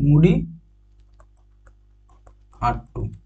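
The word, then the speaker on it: മുടിയേറ്റ്: Next হচ্ছে মুড়িয়াট্টু, কি নাম হচ্ছে, মুড়িয়াট্টু। এটা হচ্ছে বানানটা এখানে ভুল আছে, এটা হচ্ছে মুড়িয়াট্টু, ঠিক আছে, মুড়ি আট্টু, মুড়িয়াট্টু।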